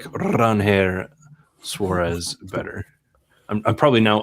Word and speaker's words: Ranger: Uh I do like Ranger Suarez or Ranhair Suarez as he clarified in his signing press conference. Uh let's do that. I like Ranhair Suarez better.